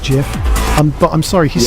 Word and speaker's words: GIF: gifts this is and he did actually say that it's pronounced jiff I'm but I'm sorry